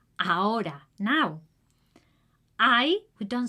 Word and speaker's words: ahora: We don't pronounce the "h" we don't say ahora is "AORA" (now) "Hay" don't say